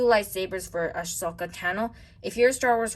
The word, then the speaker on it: Tano: Tano sounds like the word Thanos, right guys?